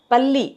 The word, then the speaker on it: பல்லி: நீங்க அதை டிஃபரன்ஷியேட் பண்ணுவீங்க நாக்கினுடைய நுனி போயி நம்மளுடைய பிரண்ட்ல இருக்கிற பல்லுடைய மேல் அன்னத்தை போய் லைட்டா டச் பண்ணனும் நாக்கினுடைய நுனி அப்பதான் நீங்க வந்து பல்லி செவுத்துல போடுற பல்லியை நீங்க உச்சரிக்க முடியும் இந்த இடத்துல படணும் அப்ப பல்லி அப்படின்னு சொல்லுவோம் அதே அந்த நாக்கு மடங்கி அந்த